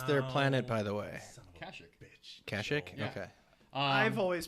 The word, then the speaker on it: Kashyyyk: Kashyyyk. Kashyyyk? Yeah. Okay. I've always pronounced it Kashyyyk.